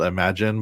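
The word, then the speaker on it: Imajinn: and then there's one called imagine but it's spelled i m a j i NN and it does some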